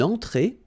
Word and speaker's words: entrée: Un apéritif, then une entrée, okay, remember, well, technically this final here is not pronounced, so phonetically it doesn't exist, so it's et, okay, entrée, remember, nasal here,